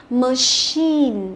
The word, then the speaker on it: machine: Thường là những từ có nguồn gốc từ tiếng Pháp thì chữ y sẽ đọc là y dài. Ví dụ chúng ta có từ machine, được chưa?